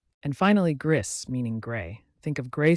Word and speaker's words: gris: nasal n and finally Gris meaning gray think of gray stones or a gray sky Gris sounds like gree with a soft S at the end and there you have